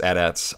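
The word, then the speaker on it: AT-ATs: of the adats and yes they are pronounced adats I don't know how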